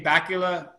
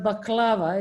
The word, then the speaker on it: baklava: uh europe you'll see bakula uh it's a it's a dessert type of thing i can't pronounce it right okay suzanne might help me out there yeah yeah it's uh it's a baklava it's called lava yeah